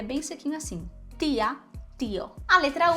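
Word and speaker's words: tía: coisa Eu por exemplo em português diria tia com esse chiado e em outras regiões do Brasil me contem aí como é que você pronuncia Tia você poderia dizer tia e estarei lá pronunciação dele espanhol tia tia sempre assim sem chiado para facilitar Tenta colocar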